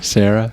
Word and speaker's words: Cera: How you say his name? Sarah. No, you said it right.